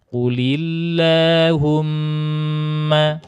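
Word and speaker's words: قل اللهم: Qulillah, di lafaz Allahnya ini dibaca tipis karena sebelumnya berharokat kasrah. Jadi qulillah, bukan qulillah, bukan. Ya, jangan salah sangka. Ini lafaz Allah sebelumnya kasrah maka bacanya qulillah.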